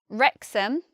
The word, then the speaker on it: Wrexham: we say Durham dharam next we have Wrexham our in Wrexham well there's nothing really to say this special about Wrexham except we spell it with the W and we just we just say in our and here we have